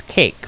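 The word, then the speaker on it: Kake: It's Cake, but it's spelled K-A-K-E.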